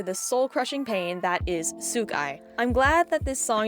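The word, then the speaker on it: Souk Eye: First of all, I'm pretty sure this is how Damon said the title of the song is pronounced, so I'm just gonna go with it even though I always pronounced it Sokai.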